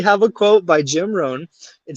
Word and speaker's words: Rohn: is Rohn.